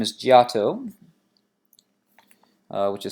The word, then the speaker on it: Giotto: the forerunner to the Renaissance his name is Giotto which is spelt GI o TT o giotto and this